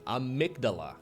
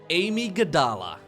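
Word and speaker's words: Amygdala: we find ourselves on a migdala or as some casters apparently call it Amy gadala welcome to Amy gadala apparently this is the only map in the current mapo that we could possibly be mispronouncing okay the other maps are too easy so Amy gadala is everybody knows Starcraft casters are terrible at pronouncing map names yeah Amy first name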